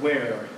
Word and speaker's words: where: You have the word where a lot. Okay? So, phonetically, you write that as HW. It's because that little puff of air precedes.